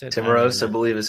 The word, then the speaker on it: Timiraos: Is it Timirays? Is that how you pronounce it? Timiraos, I believe, is how you pronounce it.